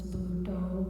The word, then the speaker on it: Buddho: So Buddha, but it's Buddho. Buddho is a little easier to use as a word that you repeat. Bud, and then it's got 2 syllables.